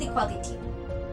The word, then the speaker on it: equality: So let's start with equality. It is a pretty simple word, isn't it? Uncountable noun, 8 letters, 4 syllables, and the stress on the A.